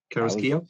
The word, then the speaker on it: Carrasquillo: Did I pronounce that right? Carrasquillo?